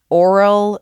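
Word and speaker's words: aural: My art piece was actually called Oral Fixation, but it's spelled A U R A L.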